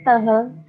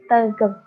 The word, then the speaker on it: tegel: Yang kedua, ada kata tegel. Pelafalan yang salah, tehel, dan pelafalan yang benar dalam ejaan bahasa Indonesia tetap tegel, T-E-G-E-L.